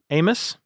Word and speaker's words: Amos: Amos rhymes with Famous.